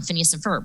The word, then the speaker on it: Phineas and Ferb: phineas and i'm going to say it wrong phineas and ferb right yeah no you got it because you